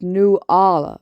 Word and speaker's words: Nula: like that look man her name's pronounced new Allah okay and don't call